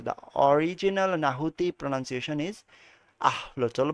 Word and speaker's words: axolotl: The original নাহুতি pronunciation is আহলোচল বা তাদের আসলে প্রোনাউন্সিয়েশনটা বলছে।